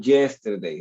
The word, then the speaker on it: yesterday: Yesterday, yesterday, no digan yesterday. Recuerden, la Y se pronuncia I, es una I, la pronunciación. No es una vocal, pero se pronuncia así. Entonces es yesterday.